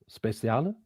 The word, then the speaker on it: Speciale: I think it's Italian. Speciale. Special.